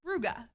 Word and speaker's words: Brugge: out the fact that it is said both ways depending on where you are from so it is it is pronounced Bruges and rouga so either way which